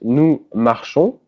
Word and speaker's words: marchons: Then it's nous marchons. O-N-S in French is just pronounced O. You don't pronounce the S.